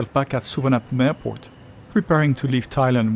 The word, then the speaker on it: Suvarnabhumi: For those unfamiliar with Suvarnabhumi Airport, yes, that's the way to pronounce it.